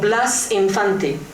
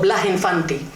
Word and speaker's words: Blas Infante: by the name of Blas Infante. The Andalusians don't pronounce the letter S, so they go Blas Infante. Blas Infante, then there are some rumors that he did eventually become a Muslim before he died.